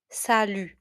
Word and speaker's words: salut: You notice that I don't say the t at the end. The t at the end is silent.